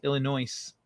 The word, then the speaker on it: Illinois: You don't pronounce the S. Illinois.